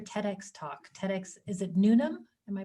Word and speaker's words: Newnham: TEDx, is it Newnham? Am I pronouncing it? Newnham, yeah. Newnham.